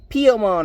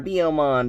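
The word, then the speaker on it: Biyomon: Now, on the other side of things, we got Piomon or Biomon, depends on how you say it. I always say Piomon, to be honest.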